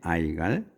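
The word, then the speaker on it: Igal: 이거를 그래서 여기는이라고 부르지만 그 영어권에서는 아이라고 불러요 아이라고 해 요게 좀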